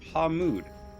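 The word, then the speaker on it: Pa Mud: is a city called pamud I didn't spell that right that's fine it's PA space mud uh not to be confused with Paw mud uh but pamud is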